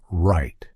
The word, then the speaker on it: right: consider the word right you may expect to hear WR but in typical American English that final T is less pronounced instead when I pronounce that last t my tongue simply makes contact at the roof of my mouth without fully releasing the sound this is what we